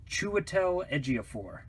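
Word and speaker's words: Chiwetel Ejiofor: will probably butcher but i am given to understand his pronounced chua tell Ejiofor so i'm probably going to screw that up but he's a great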